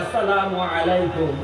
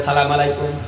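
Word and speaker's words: السلام عليكم: মুসলমান নামাজের মধ্যে ইমাম সাবের সাথে সালাম ফিরায় আসসালামু আলাইকুম নামাজে আসসালামু আলাইকুম আসসালামু আলাইকুম এই মুসলমান প্রতিদিন পাঁচ ওয়াক্ত নামাজের মধ্যে সালাম উচ্চারণ শিখে স্বয়ং ইমাম সাহেবের সাথে জামাতে নামাজ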